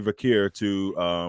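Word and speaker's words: Vaquer: So yeah, keep doing that, Asuka, and it's building up for Stephanie Vakir or Vakir, depending on how you like to say her name, to win the women's championship at WrestlePalooza.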